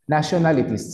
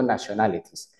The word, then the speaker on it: nationalities: Por eso digo nationalities. Pero esa E antes de la S es completamente muda. Se escribe, pero tú no puedes decir nationalities, sino nationalities. ¿Ok?